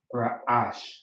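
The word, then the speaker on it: רעש: Ra, sha, ra'ash. The a drops off from the sha because it's towards the end of the word. All right. So ra'ash. That's how you would pronounce that.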